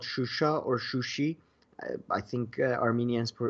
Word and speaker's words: Shusha: city we are talking about is actually called shusha i think armenians pronounce it sushi it's the second most major